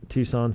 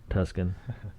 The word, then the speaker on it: Tuscan: So if I were throwing them out, I would say Under the Tucson Sun, Okay, let me look it up. Let me see. If Tuscan. Tuscan. Jeez, I pronounce things the way they're spelled.